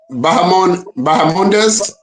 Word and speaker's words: Bahamondes: Bahamondes.